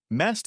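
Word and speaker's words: месть: Mest is the pronunciation of the word revenge in Russian.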